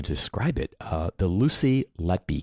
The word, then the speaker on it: Letby: Uh the Lucy Lety case. Did I pronounce her last name right? You did.